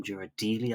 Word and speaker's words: Ghirardelli: You've got the Ghirardelli, which I've been pronouncing wrong all this time. Ghirardelli, I think it's pronounced.